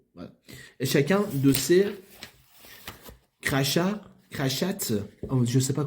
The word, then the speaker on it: crachats: Et chacun de ces crachats, oh, je ne sais pas comment ça se prononce. C-R-A-C-H-A-T-S. Crachats. Parce qu'il y a S à la fin. Sinon, c'était crachat. Voilà.